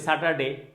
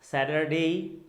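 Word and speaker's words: Saturday: আমেরিকানরা এটাকে বলছে স্যাটারডে স্যাটারডে। ওরা দেখেন টিটাকে ড উচ্চারণ করছে, শুনতে অনেকটা ড ড, যেমন স্যাটারডে।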